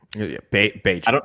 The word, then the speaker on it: Bagent: He knows what he's doing, which is weird for a guy with his background Tyson Bagent has looked good, and that's Bagent. It rhymes with agent.